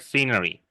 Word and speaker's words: scenery: This word scenery. Let me just move it. Yes. With this SC is not an SK. We don't pronounce the C as a K.